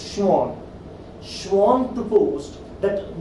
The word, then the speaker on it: Schwann: scientist's name has schwann its pronunciation is shawn schwarm proposed that not